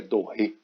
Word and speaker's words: Doré: Como se fosse Gustave Doré, mas é Doré que pronuncia.